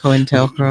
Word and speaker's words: COINTELPRO: specifically designed to be in our community with COINTELPRO, or however that's pronounced. COINTELPRO.